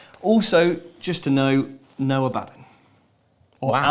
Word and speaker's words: Abaddon: Also, just to know, no Abaddon. Or wow. Abaddon, however you want to pronounce it. Tomatoes, tomatoes. Abadad, yeah. It's quite interesting. A lot of people have been using Abadad, the Don, and we